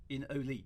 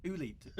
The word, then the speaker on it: Oolite: quite popular with a certain member of the Oolite forums named Mr. Wagar. I remember this because we first came across each other in Olite, didn't we? Which was a fan-made remake of the original. Oolite, sorry.